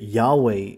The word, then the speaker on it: Yahweh: Jehovah Witnesses know that Jehovah's name is not Jehovah that Yahweh is the correct way to say it they know who did